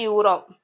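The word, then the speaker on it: Europe: A union, A യൂറോപ്പ്. യൂറോപ്പിൽ നമ്മൾ ഇ ആയിരുന്നെങ്കിലും അതിന്റെ ഉച്ചാരണം വരുന്നത് യു ആണ്.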